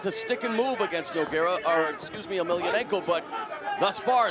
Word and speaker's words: Emelianenko: Emelianenko, yeah, that's the way you pronounce or it.